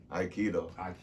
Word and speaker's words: Aikido: Aikido. Okay, you said it right. I'm just saying it, making sure the people hear it. Aikido.